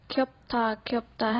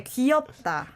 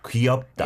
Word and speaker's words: 귀엽다: Great, but I think I noticed that many people say 귀엽다. Yeah, almost like it's just one syllable. 귀엽. Right, but we 귀엽다. don't really say 귀엽다. We say 귀엽다. 귀엽다. It's three syllables.